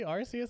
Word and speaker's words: Arceus: Holy moly, Arceus!